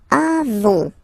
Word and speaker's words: avons: Then nous avons. Final S not pronounced.